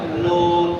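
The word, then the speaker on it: نون: number হুজুর খেয়াল করেন লাম আর নুনের পার্থক্য লাম বলার সময় এই যেটা আগের দুই পাশ উপরে লাগে খেয়াল করছেন লাম শুধু আগেরটা না শুধু আগেরটা না এই আগের দুই পাশে উপরে লাগে না জি আর নুনের ক্ষেত্রে শুধু আগাটা কাজ হয় নুন বুঝছেন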